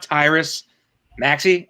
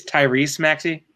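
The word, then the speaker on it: Tyrese Maxey: sure you know this it's not tight it's not Tyrus Maxi it's Tyrese Maxie you said my with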